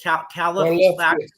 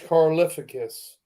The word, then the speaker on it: Karlaftis: Karlaftis. How do you say it? George Karlaftis.